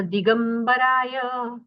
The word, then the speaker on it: दिगंबराय: दिगंबराय दिरस्व है तो रस्व उच्चार कीजिएगा। प्रशांत रूपाय दिगंबराय देवाधिदेवाय नमो जिनाय।